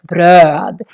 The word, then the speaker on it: bröd: But just bröd is how we say bread, bröd. And here also the the O with two dots, is very long because we have just one consonant coming after.